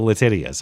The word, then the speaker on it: Letitia: That is how you pronounce her name. Everyone knows it. Look how it's spelled.